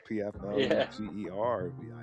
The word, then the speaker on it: Pflugerville: Yeah, starts with a P, right? The P is silent. Pflugerville.